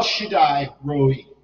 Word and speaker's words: Shaddai: because of the a when you see a I then it's I all right El Shaddai Almighty the mighty one